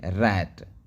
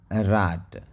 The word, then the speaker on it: rat: इसको सही उच्चारण हमको राट करना चाहिए, RAT, रात या राट। क्या ये सही है? जी नहीं, ये बिल्कुल गलत है। उसका सही उच्चारण हो जाएगा रैट, RA रैट, CA कै, BA बै, GA जय, होता है ना।